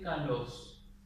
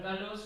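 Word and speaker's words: καλῶς: caso, por ejemplo, de kalos. La palabra kalos en griego clásico, así como está con omega, significa bien. ¿Sí? Kalos es una palabra perispómena, acento circunflejo en la última sílaba.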